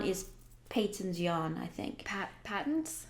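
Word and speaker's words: Patons: Patents? Well, was it Patterns? That's how it's pronounced in England.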